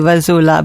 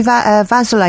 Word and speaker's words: Vasoula: And I said, I'm going to see Vasoula. He went, no, you're not. Vasoula. Vasoula. I went, my gosh, I've been saying it wrong all these years.